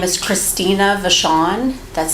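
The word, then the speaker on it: Vachon: the court reporter please my name is Christina Vashon that's spelled c r y s TI i n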